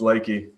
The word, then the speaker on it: Lakey: Did I say the name wrong? It's all right, man. Yeah, it's Lakey.